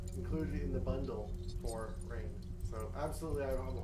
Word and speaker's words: RAINN: They're partnering with the non-toxic benefiting Rain, like I said, from April 13th to the 14th, starting at 12 p.m. Pacific Standard Time. If you don't know what RAIN is, it's spelled RAINN, and it is the U.S.'s largest anti-sexual violence organization.